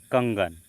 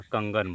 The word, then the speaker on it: कंगन: उदाहरण में कंगन यानी उच्चारण में क वर्ग का पांचवा अक्षर अंग छिपा है। उच्चारण में क वर्ग का पांचवा अक्षर क्या छिपा हुआ है? अंग छिपा हुआ है। तो यह कंगन हो गया।